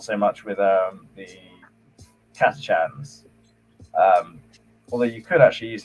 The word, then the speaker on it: Catachan: I was going to say, how do you pronounce it? Do you say Catachan? Yeah.